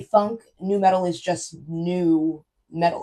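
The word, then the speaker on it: nu metal: New metal is just new metal. Like, it's just like, because it's spelled NU, but it's really just new metal.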